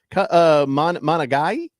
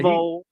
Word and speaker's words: Monangai: Monagai? Yeah. Yeah. Monangai.